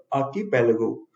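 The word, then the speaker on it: archipelago: इसका प्रोनाउंसिएशन में ध्यान दीजिएगा, आर साइलेंट है। आर्कीपेलागो, इसका मतलब होता है group of many islands in a large body of water.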